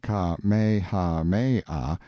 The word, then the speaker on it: Kamehameha: the drifting clouds when kamehameha pronounced ka-me-ha-mei the great who was